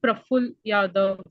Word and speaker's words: Praful Yadav: Uh, if I'm pronouncing right, Praful Yadav. Yes, ma'am, you are pronouncing right.